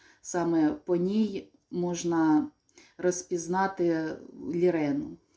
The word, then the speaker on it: Lirene: по ній можна розпізнати лірену лірен хоч е остання е не читається і звучить це як лірен Не Ірен а лірен тут бачите не видно